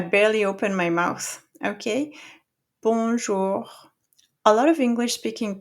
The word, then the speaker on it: bonjour: first syllable, we have we don't pronounce the N. Okay. B O N together in French makes a nasal sound which is you have to have uh the lips rounded like this. The back of your tongue is going to go up to make that nasal sound. Okay, you have to feel it in your nose.